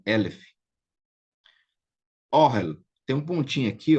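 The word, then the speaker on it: אֹהֶל: Então, é Orhel, palavra que aparece demais, que é tenda. Tenda, tenda é Orhel. Então, veja bem, primeira característica do segolado, ele vem acentuado na primeira sílaba.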